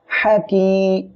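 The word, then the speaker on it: حكيم: এখানে পড়বো হাকি হাকি কেউ যেন এখানে হা উচ্চারণের সময় হা এ এমন বলবেন না এটা উচ্চারণের সময় গলাটা চেপে বাতাস বের করে আমাদের উচ্চারণ করতে হবে হাকিম মিমের মি হাকিমি হাকিমি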